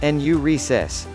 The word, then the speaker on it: enuresis: being able to control your pious and ureases pronounced enuresis sometimes enuresis is also called involuntary urination nocturnal